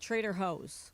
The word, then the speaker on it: Trader Joe's: to the the term Trader Joe's I personally don't pronounce the J for me I pronounce the J with an H so you call it Trader hose correct DeAndre what what's